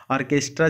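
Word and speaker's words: orchestra: जो आर्केस्ट्रा होता है उसकी स्पेलिंग दिखेगा क्या है वह आरसीएच टेस्टी आर और चेस्ट लिखा जाता है लेकिन पढ़ा जाता है और के स्ट्राइक यह काफी इंपोर्टेंट है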